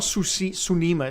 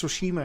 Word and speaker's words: Tsushima: It's not Tsunima, it's Tsushima, isn't it? Or am I saying it wrong?